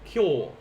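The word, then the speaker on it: 今日: remind you guys um the small yo here if you say ki yo that's a different word this is one syllable this is today kyo similar to like how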